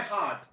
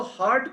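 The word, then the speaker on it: heart: कई बच्चे इसको हर्ट पढ़ते हैं, दैट इज क्वाइट रॉन्ग, इसका प्रोनाउंसिएशन, सही प्रोनाउंसिएशन क्या होगा, हार्ट, हार्ट।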